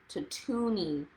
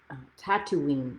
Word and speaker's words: Tatooine: on the desert named tatooni that's not how you say it tatooine i think uh tatooine give us